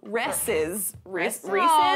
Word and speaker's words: Reese's: Kevin Nowicki wants to know, is it Reese's with a long E sound or Reese's or Reese's? He's talking about the last E. It's Reese's because it's only one E.